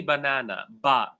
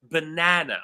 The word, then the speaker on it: banana: So we say in English, we never say banana, banana. We say banana, right? So the second syllable is louder, it's longer, and it's more prominent than the other 2 syllables.